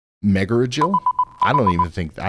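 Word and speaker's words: Megargel: of Texas right now there's a town called Mega Jael m e g a r g l what's the correct way to pronounce that meel is pronounced meil I don't even think I don't even think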